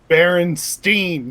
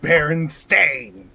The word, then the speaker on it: Berenstain: Berenstein, not Berenstain. Berenstein. Pronounce it Steen.